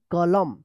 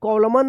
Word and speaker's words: column: पहले एम आया है तो MN एक साथ रहता है तो क्या होगा एन साइलेंट रहेगा, एम का उच्चारण होगा, क्या पढ़ेंगे कॉलम, कॉलम पढ़ेंगे कॉलम। COLUMN कॉलम, कॉलम, ठीक है। कॉलमन मत पढ़िएगा, यहाँ पे एन साइलेंट रहेगा।